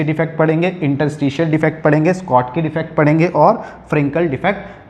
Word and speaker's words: Schottky: अब बच्चों यहाँ स्कॉटकी डिफेक्ट का प्रोनाउंसिएशन जो है स्कॉटकी, कई बार इसको स्कॉटकी बोला जाता है और कई बार हम इसको जल्दी से जब बोलते हैं तो शॉर्ट की बोलते हैं, शॉर्ट की। तो वैसे क्या होता है स्कॉट की, लेकिन होता क्या है शॉर्ट की। तो आप कुछ भी प्रोनाउंस कीजिए, स्कॉट की या शॉर्ट की, हमें प्रोनाउंस से मतलब नहीं है, हमें तो मीनिंग से मतलब है।